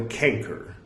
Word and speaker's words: canker: was freed from the canker of ignorance and that's c-a-n-k-e-r i'm not like horribly pronouncing cancer anyway um don't think